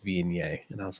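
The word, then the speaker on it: Viognier: like oh this this reminds me a lot of v ogner because i was like you know that's you know how it's spelled i didn't even think like google how it was pronounced and brad was like it's pronounced being yay and i was like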